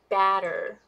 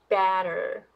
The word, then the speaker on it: batter: wider than sh the the vowel here is much longer than sh sound so please listen to uh make sure that the um you know the length of the vow so this one is longer batter batter and this one is shorter butter butter okay so how is